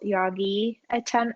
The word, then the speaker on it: Yagi: So a follow-up from our listener is, would you need to have an external Yagi antenna? You certainly can. Maybe mispronouncing.